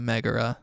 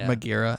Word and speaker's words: Megara: And her name is Meg, short for Megara or Magira, as we mispronounced her name when we first named her.